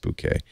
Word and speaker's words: bokeh: that's because the bouquet I always say bokeh because I don't want you to think of a bouquet of roses but it's pronounced bouquet but both I'll say